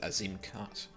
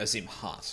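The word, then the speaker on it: Azim Khaat: So named for its long, narrow shape, this plant thrives in the depths of Azim Cut. Or Azim Hut, sorry, because the K is silent in the KH.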